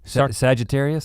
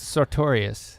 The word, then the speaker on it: Sartorius: Sagittarius? Sartorius.